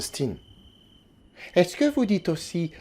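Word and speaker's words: Stine: Non, mon nom se prononce Stin.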